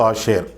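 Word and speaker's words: אשרי: முதலாவது சங்கீதம் பாக்கியவான்களின் சங்கீதம் பாக்கியம் என்ற வார்த்தை எபிரேய மொழியில் ஆசியர் என்று சொல்லப்பட்டிருக்கிறது சரியான உச்சரிப்பு ஆசியர் ஆசியர் என்பவன் யாக்கோபின் குமாரர்களில்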